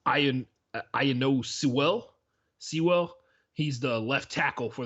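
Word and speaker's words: Penei Sewell: It's Iano Sewell.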